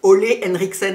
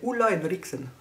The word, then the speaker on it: Ole Henriksen: J'aime bien le prononcer à la danoise, enfin j'essaye un peu. De pas dire Ole Henriksen, vous voyez, mais dire Ulla Henriksen, j'adore.